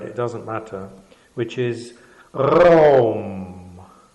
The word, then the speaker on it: Raum: doesn't matter, which is RAUM. RAUM. RAUM. RAUM. RAUM. And this apparently should emanate from the throat.